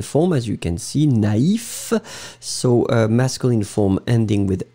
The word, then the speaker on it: naïf: But if you put the tréma, then it means that you will have to pronounce first A, na, and then separately you will pronounce the I, naïf, naïve.